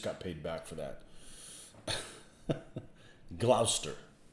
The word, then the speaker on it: Gloucester: paid back for that gloucester right that's how you say it gloucester i hate lester the